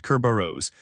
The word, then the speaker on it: Kerberos: Today, we're unpacking Kerberos, pronounced Kerberos, the ticket-based network authentication protocol that still powers Active Directory logon across most enterprise Windows environments.